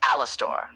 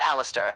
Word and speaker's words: Alastor: Alastor grits his teeth. You keep butchering my name. That I, is what you're doing. I, I didn't though. I literally said Alastor. Alastor. Alastor. It's Alastor, not Alistair.